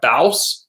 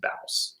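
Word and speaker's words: Bawse: right now I'm reading how to be a bouse by Lily Singh she's a YouTuber that I'm think is no it's pronounced bouse how do you know because I heard her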